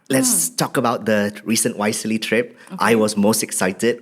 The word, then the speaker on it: YSEALI: problems pronouncing wisely I I thought it was WIS and then and I'm glad you say it's wisely but yeah you recently